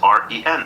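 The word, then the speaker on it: 人: start with pinion and the pinion is ren second tone up and so the natural thing for a westerner or an American or a Brit is to go ren because that's the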